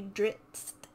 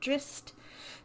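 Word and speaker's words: Drizzt: first book about drist there's two z's and i always want to say dritz but the forgotten realms wikipedia says it sounds like an s drist urden butchered it he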